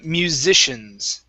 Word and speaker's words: musicians: what it is uh musicians okay so this is going to be a z sound here then an sh musicians musicians musicians musicians